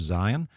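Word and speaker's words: זין: Next we have Zion. Zion is similar to our Z sound, Z as in zebra, Zion.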